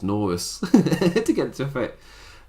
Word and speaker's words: Norris: They made it rhyme with tortoise. Yeah. My accent does not rhyme tortoise with Chuck Norris. Because it's Norris.